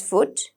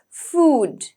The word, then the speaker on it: food: You got oo, not oo, it's oo. So you kind of pull your mouth, okay? Oo, okay? And then we have the D, so it's food. Usually, we pronounce it as food, right?